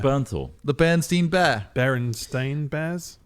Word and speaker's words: Bernthal: You see, you can't remember his last name's impossible to pronounce. Bernst Bernstein Bears. It's Bernthal.